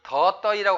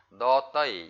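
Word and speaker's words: ដទៃ: 다른 사람들보다도 찌응 내약 또떠이 이 더떠이라고 하지 마시고요. 너 약간 너와 노의 중간 소리 너떠이 이렇게 발음해 주시면 좋을 것 같고요.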